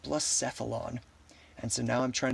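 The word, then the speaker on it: Blacephalon: I used to call this blasphealon, but I was recently educated here on stream actually by my viewer for realoom that it is pronounced blissphilon.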